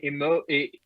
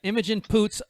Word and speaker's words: Imogen Poots: picked this actress name emoji i don't know if i'm pronouncing the game right emoji imogen boots you'd like to say your last name yeah imogen poots otherwise known as i'm